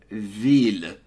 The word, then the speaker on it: ville: évidemment and village alors en français le mot ville on prononce les deux ailes une ville tu dois absolument prononcer les ailes si tu ne prononces pas